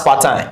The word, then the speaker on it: part-time: So how do we pronounce part-time? Since it's a compound adjective, we have the stress syllable on the second word, so we are going to pronounce it part-time, part-time, part-time.